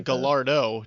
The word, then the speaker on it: Gallardo: other rap songs but no it's a gallardo g-a-l-l-a rdo so they pronounce they pronounce the l's you know they don't they don't accent the l's but they they say it with a d so he just kept